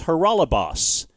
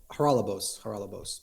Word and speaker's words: Haralabos: The host had said, am I pronouncing your name right? It's Haralabos. And you said, yes, that's right. Haralabos, but yes.